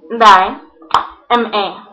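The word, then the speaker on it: Diema: D-I-E, Dai, M-A, Ma. Daima.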